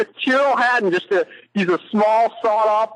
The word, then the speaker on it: Tyrrell: He goes by Tyrrell. Oh, see, I wasn't even close. Yeah, Tyrrell is the way it's pronounced.